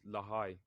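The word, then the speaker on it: Lahai: of it the name the name of it is Lai or it's spelled l a h a i so yeah that's that's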